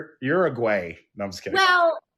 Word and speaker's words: Uruguay: And she's like, well, I think it's pronounced Uruguay. No, I'm just kidding. Well, yeah, you are gay. You are gay. Whatever. I say it the Spanish way, Uruguay.